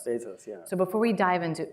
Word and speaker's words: Bezos: lesson in every to everyone on how to pronounce Bezos it's not Bezos it's Bezos Bezos so before we dive into Uber how do